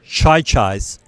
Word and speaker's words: Chi-Chi's: It's pronounced Chai-Chais, but whatever.